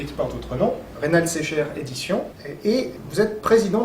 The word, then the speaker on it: Secher: On dit Secher, pardon, faut Oui.